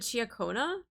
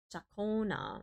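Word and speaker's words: Ciaccona: Is it Chiaona? No, that's not how you say it. Pronunciation. Jaka, Jacona, Jakona, Jakona.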